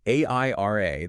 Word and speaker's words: Airia: So AIRA, that's spelled AIRIA, it gives you that unified security and, crucially, real-time cost control.